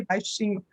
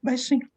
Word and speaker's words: baixinho: So, but baixinho is fine, because we don't even say baixinho. We say baixinho. Sometimes just devoicing the final syllable.